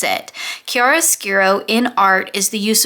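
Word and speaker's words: chiaroscuro: not only what it was but how to pronounce it kiara skiro in art is the use of strong contrast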